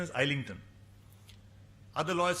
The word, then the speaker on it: Islington: Actual pronunciation is Islington.